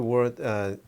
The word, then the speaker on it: wo: Well, for example, we had thought about the word I, the first pronoun I, and as simple as that sounds, it actually is not that simple.